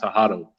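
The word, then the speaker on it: Tewahedo: It's pronounced Tahado, Ethiopic Bible.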